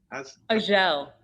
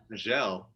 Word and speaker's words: Azhelle: how do I pronounce it? Azhelle. Azhelle.